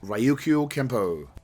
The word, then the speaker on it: Ryukyu Kempo: Then, somewhere in the mid-80s, he became obsessed with Ryukyu Kempo. Just the proper pronunciation.